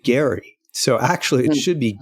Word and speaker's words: Gerry: Elbridge, Gerry, but he pronounced it Gary.